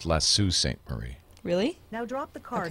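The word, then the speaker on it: Sault Ste. Marie: ended up choosing Montreal that's pronounced lassu St Marie really now drop the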